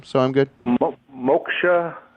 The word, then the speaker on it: Moksha: so i'm good well moksha mo k sha with a nose moksha moksha well in a